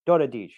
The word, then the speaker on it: Daradics: called it right out he's like hungarian you pronounced that dota dich and i was like yeah but that was